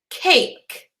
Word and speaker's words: cake: a look at cake cake now as adults or grownups we know that there's a silent e but in kindergarten we